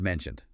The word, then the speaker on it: mentioned: First, the word mentioned as in the book you mentioned. The source notes that here the edid ending has a clear d sound.